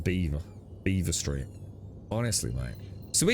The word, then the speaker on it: Belvoir: Yeah, the locals call it Beaver.